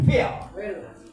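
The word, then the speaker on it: feel: artinya pil lu pil tulisannya f e e l dibacanya fil P itu artinya merasa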